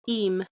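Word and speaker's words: Eyam: It's called EM, but it's spelled E Y A M but it's pronounced E.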